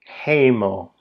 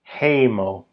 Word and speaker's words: hejmo: The word for home as opposed to just any old house is pronounced ho. Heyo. Heyo.